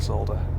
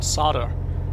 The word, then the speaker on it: solder: Because I really can't solder. Or solder, if you're American.